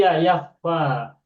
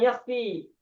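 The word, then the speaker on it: يكفى: Sedangkan di Al-Qur'an kita temukan bukan yakfi tapi yakfa.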